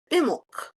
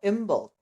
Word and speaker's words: Imbolc: I looked it up the B is often very soft or silent in some of the older um pronunciations in Irish and some other Gaelic languages. So, imbul I don't know.